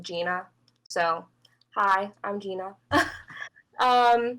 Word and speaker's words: Jeanna: said my name yet it looks weird but it's pronounced like gina so hi i'm gina